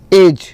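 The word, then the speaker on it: edge: अब एज में जो साइलेंट क्या है इसमें डी है। डी जो है साइलेंट लेटर है आपका। डी के नीचे आपको रेखा खींचनी है। जो डी है ना, डी को नहीं पढ़ेंगे, डी इसमें साइलेंट होगा।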